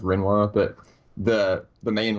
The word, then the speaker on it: Rinoa: you pronounce the name, I pronounce it Rinoa, but I think it's actually pronounced Rinwa, but the main, like,